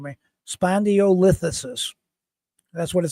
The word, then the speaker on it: spondylolisthesis: It says okay, it's spondylolisthesis. That's what the computer just told me. Spondylolisthesis.